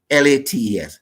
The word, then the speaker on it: phthalates: But the way we pronounce it, we say Faylates.